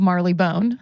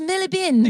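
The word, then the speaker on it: Marylebone: uh London, out of Marley Bone. They're going to be like, "It's pronounced Millibin."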